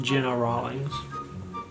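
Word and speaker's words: Gena Rowlands: is starring his wife gina rollins although i've heard it pronounced jenna rawlings this is from 1974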